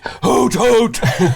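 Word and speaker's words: Hoothoot: she is called harot hoot hoot that's how it's pronounced the surname is pronounced hoot hoot very normal very normal pronunciation and this is Harriet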